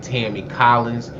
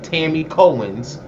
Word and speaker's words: Tammy Cohen: he baited he used I said it wrong I was saying Tammy Collins he used T Tammy cohens as the the lead